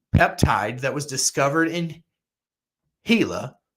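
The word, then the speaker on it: Gila: that was discovered in hila it's pronounced hila hila monster Venom right and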